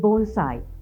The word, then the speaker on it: bonsai: me savitri rodrigo i've always been fascinated with bonsai yes that's the way it is pronounced the word means tray planted in japanese